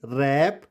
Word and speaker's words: wrap: अगर word WR से start होगा तो वहां पर W साइलेंट हो जाएगा। जैसे WRONG, it's wrong, WRITE, right, WRAP, रैप, और इसको आप खुद ही पढ़ लेंगे, रोट,